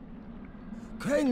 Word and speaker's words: Crane: my name's crane crane crane rhymes with train and brain and S and Grain and